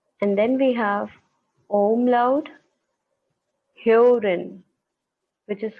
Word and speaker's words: Hören: Alright, so this is the umlaut which is pronounced as A. So we can call Äpfel, Äpfel. And then we have umlaut Hören, which is called Hören, Hören, Oren.